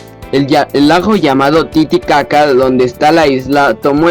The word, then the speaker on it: Titicaca: Hay que pronunciar ambas sílabas caca dentro de la garganta. El lago llamado Titicaca, donde está la isla,